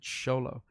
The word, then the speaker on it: Xolo: i'm gonna show low like she pronounces it sholo but that little kid